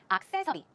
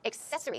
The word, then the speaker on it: accessory: are like an accessory access is the wrong pronunciation accessory the stress goes right there so it's accessory accessory and then she asked